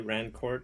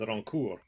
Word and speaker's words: Rancourt: Anglophones say Rancourt, but the proper pronunciation is Rancourt.